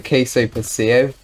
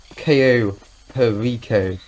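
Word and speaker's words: Cayo Perico: it actually i think i originally pronounced it the queso pacio and i have a lot of a title but damn i'm so blind why can't i just notice that it's called ko perico i'm calling okay for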